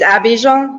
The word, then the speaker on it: Abidjan: It's Abidjan. Yeah, it's Ivory Coast, basically. Abidjan.